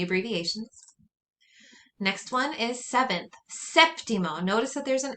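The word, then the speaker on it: séptimo: next one is seventh septimo notice that there's an accent on that e make sure that you include it septimo septima notice that that's also where you put your emphasis septimo and then here you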